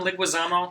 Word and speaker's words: Leguizamo: John Leguizamo.